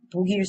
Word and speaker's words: 독일: Now if you were to read this word exactly as it is spelled, this word would be pronounced as 독일 사람. However, Korean people actually pronounce this word as 독일 사람. What happens is that the 기역 character moves to the next syllable.